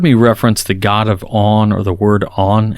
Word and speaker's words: On: reference the god of on or the word on it's spelled just o n and is on or off it's talking about on